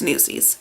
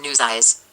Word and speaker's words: Newsies: and that blankety blank doesn't even know how to pronounce newsies let me let me demonstrate this for you play newsies soundtrack okay album news eyes news eyes what the hell is a news eyes i'm like hunty no